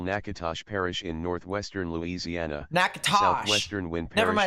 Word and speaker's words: Natchitoches: Nakatosh. Southwestern Wind Never Parish mind, it's in not north central Nakatoches, it's Louisiana.